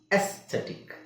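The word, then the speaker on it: aesthetic: ಹೇಳೋ ಅವಶ್ಯಕತೆ ಇಲ್ಲ ಫಾರ್ಲಿಮೆಂಟ್ ಇಲ್ಲಿ ಎಸ್ಥೆಟಿಕ್ ಅಲ್ಲ ಜಸ್ಟ್ ಎಸ್ಥೆಟಿಕ್ ಸೋಇ ಉಚ್ಚಾರಣೆ ಏನು ಶಾರ್ಟ್ಇ ವಿಚ್ ಇಸ್ಎ ಎಸ್ಥೆಟಿಕ್ ಓಕೆ ಸೋಎ ಮತ್ತೆಬಿ ಎಲ್ಲೆಲ್ಲಿ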